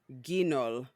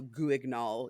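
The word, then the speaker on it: Guignol: happened I guess okay so it's called the Grand so grong Gino but it's it's written by it's written Grand and then g-u-i-g-n-o-l so goo ignol if you are a have a coarse American pronunciation but I'm looking online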